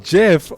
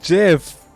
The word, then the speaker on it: Geoff: how to pronounce the name geoff not goof oh it's pronounced jeff oh my gosh it's pronounced jeff well then my bad